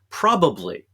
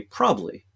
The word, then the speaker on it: probably: it, is the word probably. Most of us leave out that extra syllable. We say probably.